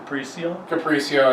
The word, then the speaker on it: Capriccio: I think I said that right. Capriccio? Capriccio? Capriccio is, I think, the actual pronunciation.